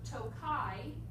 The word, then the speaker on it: Tokaji: that it grows in out of respect for Tokai, the sweet wine region from Hungary. That's spelled Tokaji.